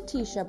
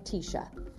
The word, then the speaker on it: Tisha: her sweaters and t-shirts when she says t-shirt quickly it sounds like tisha this is a fantastic